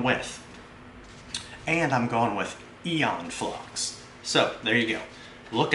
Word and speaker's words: Aeon Flux: the sentry gun from eon flux or is it a on flux or e influx i don't know there's a big debate going on over the name and how you pronounce it i like to stick